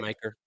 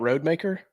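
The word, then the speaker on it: Rodemaker: two touchdowns real quick is that how he pronounced his name is that right maker yeah it's not Road maker I feel like an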